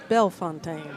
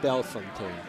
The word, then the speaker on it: Bellefontaine: And the second E in his last name is silent.